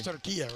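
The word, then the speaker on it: Türkiye: that should be pronounced we just learned during the Euros the what turkey is no longer turkey he has turkia right yeah um but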